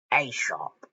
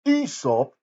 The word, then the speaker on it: Aesop: But right now on Children's GBC, it's time for the Tales of Aesop. Uh don't you mean Aesop?